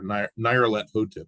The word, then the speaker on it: Nyarlathotep: It was one of the masks of Nyarlathotep, or Nyarlathotep is what I've heard him pronounce it.